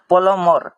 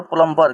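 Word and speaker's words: plumber: यहां पर लिखा गया है कि इंग्लिश में उच्चारण करते हैं प्लमर ठीक है ना यहां पर लिखिए प्लमर प्लमर ठीक है ना लेकिन लिखते हैं हिंदी में लिखावट का होता है यहां पर प्लंबर क्योंकि ज्यादातर लोग ऐसे ही बोलते हैं और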